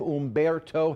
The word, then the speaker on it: Humberto: in the Gulf, but we do have our H storm, although the H is silent. Tropical storm Umberto has formed from what was Invest 93.